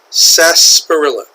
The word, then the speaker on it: sarsaparilla: title is Rufus Xavier sarsaparilla say that with me Rufus Rufus Xavier Xavier sarsaparilla there's an R here but we don't really pronounce it we don't say